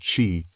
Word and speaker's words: qi: The invisible vital force called chi, pronouncedqi, chi flowed through every living being.